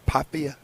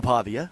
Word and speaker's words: Pavia: We may need to get uh I know how do you pronounce his last name? Papia. Pavia. Yeah, Diego. Pavia.